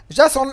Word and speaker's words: JSON: and a Bueller serialization format is called Json by the way and and pronounced Jason and which stands for